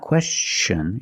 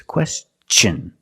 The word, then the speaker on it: question: this question it's not question it's question use the hard CH sound because the T N is after an S let's see some other